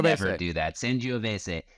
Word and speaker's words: Sangiovese: and then you'll really see how things are pronounced. I'll be waiting in the wings. Let's actually Sangiovese. never do that. Sangiovese. S-A-N-G-I-O-V-E-S-E.